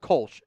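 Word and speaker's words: Kölsch: And there the most common beer in Cologne is called Kulch. K O L S C H is how they used to spell it over there. Omlau over the O. But Kulch is a style of beer that was invented in Cologne.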